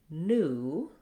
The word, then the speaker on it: new: So for example, in American English we say new with just the oo sound. So the IPA would be this. We don't have the glide y in there. Not new in American English, but new.